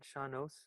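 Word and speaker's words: sean-nós: I mean, I was interested when you said, I didn't know what, am I saying it right? Shanos? Yes, in fact, it's very funny because a guy interviewed me long ago on radio in America.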